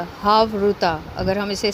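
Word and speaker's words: חברותא: कहते हैं यह रमिक जबान का अल्फाज है हाव रुता अगर हम इसे स्पेलिंग करेंगे तो यह है एच ए वी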